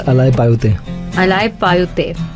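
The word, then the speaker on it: Alaipayuthey: I wouldn't be able to pronounce the Tamil film name, which is it's Alai Payute. Alai Payute.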